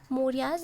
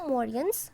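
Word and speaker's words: Mauryans: ठीक है, मौर्याज ना बोल के इनको मौर्यंस प्रोनाउंस किया जाता है।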